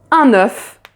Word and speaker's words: œuf: Donc, imaginons que on dise un petit de petit, un œuf.